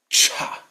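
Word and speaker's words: छ: the equivalent aspirated sound. Cha. This should be much stronger than you think. Most of you, even from though you're all from different backgrounds, will probably pronounce this one too softly.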